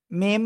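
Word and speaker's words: م: এখন আমরা সেটা দেখব এই দুই ঠোঁটের শুকনো জায়গা থেকে যে অক্ষরটা উচ্চারিত হয় আমরা সেটাই দেখি এখন এই যে শুকনো জায়গা মিম আবার মিম প্যারাফটা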